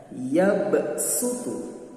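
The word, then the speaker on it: يبسط: Bunyi lafadznya yabsutu. Tulisannya pakai shad tapi dibacanya yabsutu.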